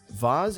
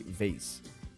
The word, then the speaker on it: vase: and magazine covers and about the pronunciation of the word vas we hear it being said two different ways both correct vas is a British pronunciation and Americans would say vase Royal our H head